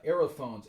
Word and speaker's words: aerophones: of that band uh aerophones a e r o p h o n e s this just phonetically sounds like the word air and so that this